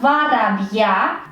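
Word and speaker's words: воробья: Que en caso genitivo, nuestra forma varabia termina en letra ya que está acentuada. El acento cae en esta última letra ya.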